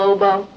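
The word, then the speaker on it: oboe: plays Everything clarinet sax I believe that's pronounced OBO nowo OBO he plays it what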